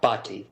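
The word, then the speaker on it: Bhati: Uh, Bati is my last name.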